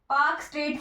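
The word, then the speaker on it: Palk Strait: फिर पाक स्ट्रेट, पाक स्ट्रेट की ये स्पेलिंग होती है PALK।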